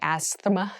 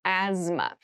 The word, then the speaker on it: asthma: asthma asthma Asma so this this word has very interesting spelling there's a th in the middle but we don't say Asma we say asthma so kind of ignore